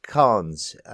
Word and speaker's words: Khan: Khan. The K is somewhat silent in that Turkic tongue, which the name that we anglicise as Khan comes from.